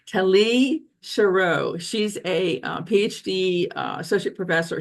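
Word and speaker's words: Tali Sharot: So let's talk about what Tali Tali Sha I just mentioned said her name wrong. Tali Sherro she's a PhD associate professor.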